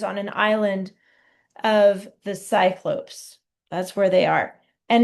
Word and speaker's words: Cyclopes: And this word, if you noticed, has a e s and it is pronounced cyclopes.